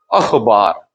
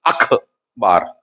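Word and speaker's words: अख़बार: से लिया है, जबकि एक्चुअली रियल स्पेलिंग इसकी होती है खा के नीचे नुक्ता लगता है, दैट इज अखबार, ना कि अखबार।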